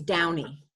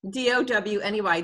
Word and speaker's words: Downey: Well, I got married 4 years ago, so it's Downey. D-O-W-N-E-Y, Downey. It's really easy now.